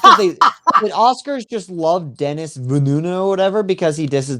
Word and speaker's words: Denis Villeneuve: He hates Denis Villeneuve, which is how you pronounce his name.